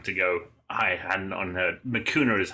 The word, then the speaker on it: Mikuna: point in time to go i had on my cuner is how you pronounce our name okay and i'm panicking because